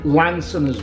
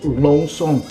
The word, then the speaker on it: Lanson: with champagne but actually it's delicious well lansing lonson we would pronounce but the proper pronunciators long song is one of the only houses and when